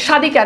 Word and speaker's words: স্বাধিকার: দেখেন শব্দের শুরুতে বফালায়ের উচ্চারণ হয় না, শব্দের শুরুতে বফালায়ের উচ্চারণ হয় না। যেমন দেখেন স্বাধিকার, এখানে দেখেন যে বফালার উচ্চারণ নাই।